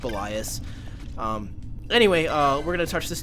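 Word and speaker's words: Belias: bias yeah I know I say belly 'us that's just habit I think it's actually pronounced Elias anyway we're gonna torch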